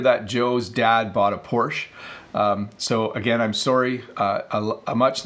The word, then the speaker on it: Porsche: say this but its Porsche in North America people often say poor so they'll say oh that's a nice new Porsche that you're driving oh did you hear that Joe's dad bought a Porsche so again I'm sorry